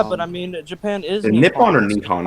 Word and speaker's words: Nippon: i mean japan is nippon or nikon i forgot how it's pronounced it's nippon it's nippon to the japanese and it's japan to everybody else that's personally reasonable